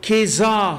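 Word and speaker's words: kezazah: And there are various ways of pronouncing it, but I'm presuming that let's, for convenience sake, pronounce it Keza ceremony, all right?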